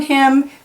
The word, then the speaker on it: hymn: So you have a lot of silent N's on this page. You have a silent K here, and you have a silent N here, and N is silent here, and in the word hymn too.